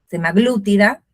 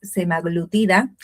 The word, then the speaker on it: semaglutida: En inglés es semaglutide, y claro, y en castellano sale decir semaglútida, pero no. Investigué un poco, es semaglutida, que me cuesta, pero